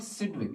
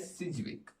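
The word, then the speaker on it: Sidgwick: ये तो आप प्रोनाउंस कर ही सकते हो, इट्स नॉट सिडविक, इट is pronounced as सिजविक, ठीक है ना। डी जो इसमें है वो साइलेंट है।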